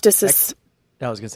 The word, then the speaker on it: ecdysis: Let's hear how it's pronounced. Ecdysis.